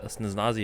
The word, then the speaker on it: Snezhnaya: Should be either the Snezhnayan Embassy or the Snezhnaya.